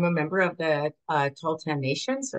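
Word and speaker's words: Tahltan: Uh so I'm a member of the uh Talllan nation. So it's pronounced tall and tan and as you see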